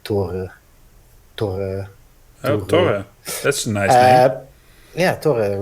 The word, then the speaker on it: Thor: it is more like thor is the uh the english pronunciation but uh uh would be something more like toru that's nice yeah totally